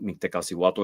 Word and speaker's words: Mictecacihuatl: There's a lot of ways to pronounce her name, but Mictecacihuatl is the Nahuatl pronunciation and name of this divinity.